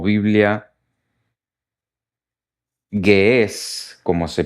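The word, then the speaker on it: Ge'ez: Porque la Biblia etíope o Biblia Gués, como se pronuncia eh eh justamente esta esta lengua o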